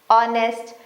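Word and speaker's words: honest: बस आप ये सेट ऑफ स्पेलिंग्स लर्न कर लो कि ये जो वर्ड्स हैं इनमें एच साइलेंट ही होता है। ऑनेस्ट our honourable.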